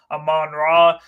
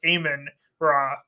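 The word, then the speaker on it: Amon-Ra: is playing very well am man raw did you know it's a I think it's actually pronounced aan raw oh really yeah he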